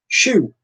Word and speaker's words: choux: And the answer to that is choux pastry. And that's spelled C-H-O-U-X.